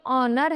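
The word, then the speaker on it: honour: तो जो ऑनेस्टी और ऑनर है इनमें क्या है? एच साइलेंट है। ओ साउंड से ओ साउंड आ रही है।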